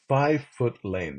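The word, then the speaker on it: Fye Foot Lane: Street and Bear right Define 5 foot Lane that five is spelled FY to the left take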